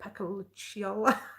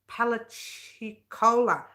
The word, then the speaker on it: Apalachicola: I don't even know how to pronounce that. Pacalaciola National Forest in Florida. Apalachicola.